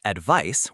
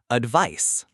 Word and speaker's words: advice: And the pronunciation for advice with a c ends with an s sound like ice or nice. So, advice.